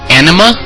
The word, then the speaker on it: Anima: Is it anima or anima? How do I pronounce that?